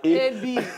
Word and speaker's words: AB: The one place where I go, they say I be. Now, I say, okay, no. Man, I just give an A. AB. Very easy to pronounce.